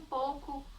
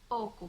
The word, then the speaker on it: pouco: A palavra pouco, a gente fala pouco, quero um pouco de açúcar, por favor. Não pronunciamos a vogal U.